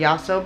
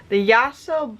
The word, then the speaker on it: Yasso: The Yasso bars are better. The Yasso bars, I believe, were made Y-A-S-S-O, by the way. I think that's how you say it, Yasso. Let me know if I'm wrong.